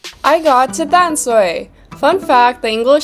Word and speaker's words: Tamsui: But in 2011, the spelling was changed from D-A-N-S-H-U-I to T-A-M-S-U-I, which more closely resembles the Taiwanese language pronunciation of the name.